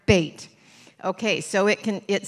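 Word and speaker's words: בית: when they're in words don't say buh do you hear the UH behind there make it very staccato because it'll mess you all up when you start getting with the vowels so you make that staccato sound okay all right Psalm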